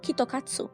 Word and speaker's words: KitKat: tea crepe and wasabi the Japanese pronounce KitKat like kyokotsu which sounds like you're sure to pass in Japanese and so they make